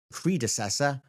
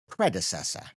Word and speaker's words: predecessor: I should say here that there's a slight difference between British and American pronunciation. I've been saying this word with the British pronunciation which is predecessor. predecessor. Over in the US, you're more likely to hear predecessor. Predecessor. Very slight difference there.